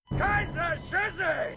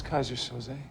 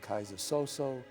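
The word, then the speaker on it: Keyser Söze: I think the funniest thing was everyone had a different way to pronounce Kaiser Soze. And we just kept laughing. Guys were saying Kaiser Soso, Kaiser Sosa, Kaiser, Yiza. We changed the name Kaiser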